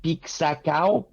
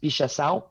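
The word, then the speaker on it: pixação: it's written p-i-x-a-c-a-o like peak sakau but it's portuguese and it's pronounced pisha and um it's an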